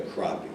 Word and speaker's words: crappie: I'm like, he's like, it's a crappie. I'm like, huh. I'm like, it's spelled with an A though.